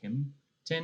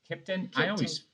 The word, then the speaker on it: Kimpton: There's an M in it. Is that how you say it? Kimpton or Kipton? Kipton. I skip the M. It's the Kipton.